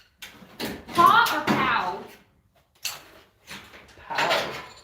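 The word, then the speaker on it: Pau: Oh, that's so cute, Paw. Paw or Pow? Pow. It's P-A-U, so I'm thinking it's actually Pow.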